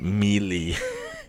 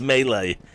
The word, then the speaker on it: melee: melee damage melee damage I always say melee I learned that word from Reading when I was a teenager and I always pronounced it melee I know it's melee but I've almost given